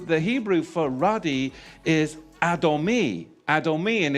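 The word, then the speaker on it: אדמי: But I just don't want to move on because when you look at the Hebrew, the Hebrew for ruddy is adomi. Adomi. And it's spelled olive dallet mem noon yod.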